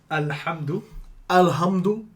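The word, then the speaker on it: الحمد لله: Is it Lillah? Hold your L a little bit at the end. So Alhamdulillah.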